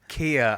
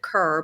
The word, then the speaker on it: Kerr: oh did you yeah I said Kia I think not K that sounds fancier yeah you know what the actress um people do tend to say it wrong well I don't know I don't know what's right or wrong but um my family says it cerr but the actress Deborah